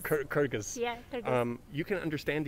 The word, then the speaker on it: Kyrgyz: And she's, how to pronounce it correctly? Kyrgyz. Kyrgyz.